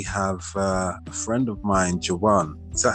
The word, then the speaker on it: Jawan: Today we have a friend of mine, Jawan. Is that how you pronounce it, Jawan?